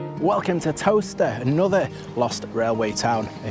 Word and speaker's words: Towcester: Like Leicester, Bicester, Towcester. So it's actually spelled Towcester, but it's pronounced Towcester.